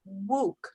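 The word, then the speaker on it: Wouk: so i'm doing herman wuke book actually it says it i always thought it was wow but it says it rhymes with rook like in pawn up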